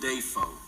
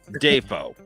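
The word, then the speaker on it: Dafoe: to him say his name eric schneider william defoe john schneider what what the hell william and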